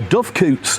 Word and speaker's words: doocot: and a sundial, and there's the Ducot. This Ducot is really impressive. Most Scottish castles have Ducots, or dovecoots, I guess is the proper way to say it, and we're full of doves, pigeons, birds.